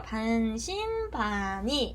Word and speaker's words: 반신반의: 그래서 우리가 반신반의 이렇게 발음을 하면 될 것 같아요.